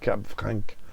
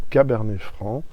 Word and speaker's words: Cabernet Franc: not say Franc, because the C you don't pronounce it in that circumstance. Merci beaucoup. I hate to hear Cab Franc. I mean, respect the name of the wines. Cabernet Franc, Grenache.